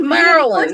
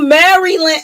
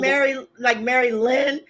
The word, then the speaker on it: Maryland: You don't Now need to I pronounce can every get you fucking saying syllable. Mary Lynn, like Maryland.